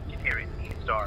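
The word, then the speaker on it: Sagittarius A*: Sagittarius A-star, because the star represents the fact that it's a very high energy radio source. The star is, you're supposed to pronounce it, just so you know.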